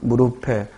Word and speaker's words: 무릎에: 4번은 무릎에가 아니라 뭐라고 읽어야 돼? 무릎에. 피읍 받침이니까 무릎에. 부엌을이 아니라 뭐라고 읽어야 돼?